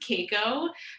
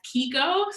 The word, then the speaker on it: Keiko: Well, so it is a Japanese name, which is traditionally pronounced Keiko, but my family has always pronounced it as Keiko. So that's kind of just my name now, Keiko, that pronunciation of it.